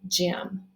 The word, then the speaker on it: gem: there to show that the g is going to say j okay so that word is gem like um uh that